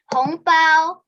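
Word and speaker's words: 红包: chinese new year the red envelope is called hongbao that's right hong bao is that right yes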